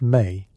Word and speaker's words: me: According to mythology, Enki possessed something called the Mi, pronounced May, which were essentially divine decrees or fundamental concepts that governed reality.